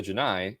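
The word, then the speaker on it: J'naii: The name of the alien species, the Janai, capital J apostrophe capital N A I I is identical in pronunciation to the Janai, capital G I in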